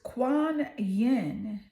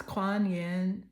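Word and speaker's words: Kuan Yin: what is the energy coming through the goddess Quan Yen I love her name I love the way it's spelled k u a n y i n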